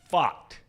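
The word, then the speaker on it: Pfaadt: Rangers Suarez against Brandon F it's a tricky name to pronounce because it's spelled PFA a DT bot first pitch 407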